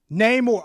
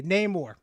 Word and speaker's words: Namor: Namor. Okay, no, I got it. Thank you. That's how you pronounce his name. Okay, Namor.